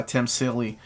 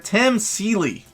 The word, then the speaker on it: Tim Seeley: i was talking about by tim silly volume one did i mispronounce his damn name again tim seeley ah come on keep